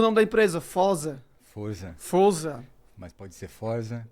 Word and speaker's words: Forza: Pronunciou, correto. E o nome da empresa? Fosa. Forza.